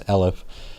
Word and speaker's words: elif: I should start pronouncing as elif.